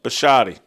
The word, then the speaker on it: Bisciotti: like him and Steve, how do you pronounce the owner's last name? Bisciotti. When it looks like him